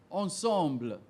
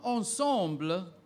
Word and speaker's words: ensemble: Ensemble another French word ensemble her wedding Ensemble was pleasing to the eye repeat the word please ensemble there's another pronunciation ensemble yep believe it ensemble